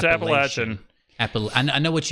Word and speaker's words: Appalachian: that's probably totally wrong um but it is Appalachian I I have not heard anybody that goes